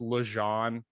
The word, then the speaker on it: Legendre: yeah so it's like it's pronounced legend it looks nothing like it's spelt but it's french canadian so that's where also